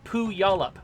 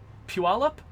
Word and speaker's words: Puyallup: it looks like it's poo y'all up but it's pronounced I think Puyallup like I think it looks like the the Y moves in the word uh and yeah so